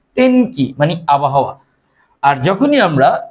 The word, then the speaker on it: 天気: তেনের কাঞ্জিটা এখানে লিখবো, তার সাথে কি উচ্চারণটা হবে? কি? তেন কি, মানে আবহাওয়া।